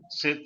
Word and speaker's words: C'est: Say S-A-Y. Same sound you have to use here. Same pronunciation for say.